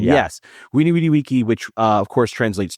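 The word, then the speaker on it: veni vidi vici: And I'm going to say weny witty wiki. You even did the Latin V's with the W pronunciation. Yes. Winny witty wiki, which uh of course translates to I came, I saw, I stuffed the crust.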